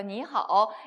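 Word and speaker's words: 你: n하고 i가 합쳐졌으니까 니라고 읽고요. 거기다가 삼성이 들어왔습니다. 그죠? 니 이렇게 가는 거예요.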